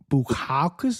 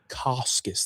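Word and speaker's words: Bukauskas: Bukakus. Is that how you say it? Buoscus. There's an S before the K.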